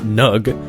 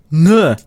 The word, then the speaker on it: Ng: Hông phải đọc là "nug" Đa số đọc là "Ing" nhưng mà coi bộ cái đó sai rồi. Tui hỏi bạn mình và cổ nói nó đọc là... Chuẩn bị tinh thần chưa? mmm mmm? MMM? Âm M đâu? Đáng lẽ phải đọc là Nguh.